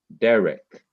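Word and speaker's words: דרך: a closed syllable and the E vowel the SE is a short s sound like the e in bed b d it's an S sound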